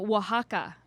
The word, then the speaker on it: Oaxaca: From Oaxaca. Are you impressed that I knew how to you pronounce that?